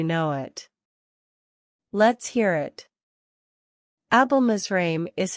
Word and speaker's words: Abelmizraim: how do you pronounce this word let's break down the pronunciation it's easy Once you know it let's hear it album israime is how you pronounce album israim if you find this video